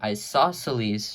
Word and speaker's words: isosceles: length that makes this an equilateral triangle and isosceles triangle that's how you pronounce this word it's a little bit complicated